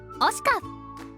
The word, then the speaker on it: OSICA: Also, if you're wondering how to pronounce OSICA, here is a clip from their intro video. OSICA